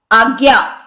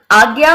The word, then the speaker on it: आज्ञा: जैसे आज्ञा है तो यहां पर हम आज्ञा यानी ग आधा और य रूप में इसका उच्चारण करते हैं।